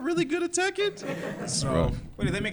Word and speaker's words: Tekken: still mispronounce it. What is it? It's Tekken.